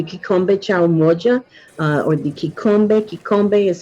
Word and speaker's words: Kikombe: Um, and we have the kikombe chao moja, or the kikombe. Kikombe is spelled Kikom, as in Mary, B as in boy, E, Kikombe, Kikombe.